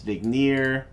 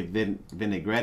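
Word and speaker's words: Vigenère: famous is one by a french guy that i always mispronounce vigneer i've heard some people say vinaigrette even though that's not even close to how you spell out the name but anyway you got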